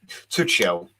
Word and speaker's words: Tuchel: Well, I'm pronouncing it the way I've been told to pronounce it, which is Tuchel.